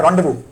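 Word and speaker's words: Rendezvous: हो नाम क्या है रव विथ सिमी गवाल टाइप करिएगा ऐसा है ना उसका स्पेलिंग होता है रजस पढ़ा जाता है रव है ना रजस का मतलब होता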